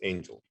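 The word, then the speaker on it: AINGLE: It's spelled A-I-N-G-L-E. That's not a mistake, but it's pronounced Angel.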